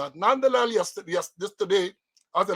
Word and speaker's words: Nandlall: So we used to always say Nandall. So let me correct myself and say, Mr. Attorney General, I did not intend to mispronounce the name. Attorney General Nandlall.